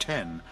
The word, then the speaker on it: X: with the release of the iPhone x pronounced 10 alongside the iPhone 8.